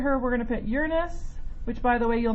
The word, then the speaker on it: Uranus: Well, you would be pronouncing it the way I said it. Yeah, because that's the correct way to pronounce it.